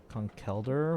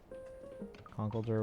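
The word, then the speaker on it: Conkeldurr: Conkelder with the emphasis on the last part. Conkelder with the emphasis on...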